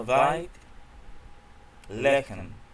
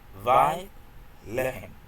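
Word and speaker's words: בית לחם: En el nombre de Belén, la casa de Belén, tenemos, en hebreo se pronuncia Beit Lehem, que es casa de pan, Belén. En hebreo es Beit Lehem, para tener una adecuada pronunciación de la palabra Beit, casa.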